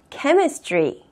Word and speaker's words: chemistry: CH가 앞에 있어도 촤로 발음되는 게 아니라 크로 발음이 돼서 chemistry, chemistry, chemistry로 발음이 됩니다.